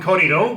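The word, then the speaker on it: kōrero: Even if you feel like just, a coffee and a sit down, we'll have a little, what we call a corridor, which is a chat.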